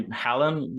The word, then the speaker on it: Haaland: How do you pronounce it? Say Haaland. Yeah. Okay. Haaland.